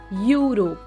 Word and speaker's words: Europe: For example, we use article a in front of Europe because the sound Europe sounds like EU because the word Europe sounds like YU, Europe.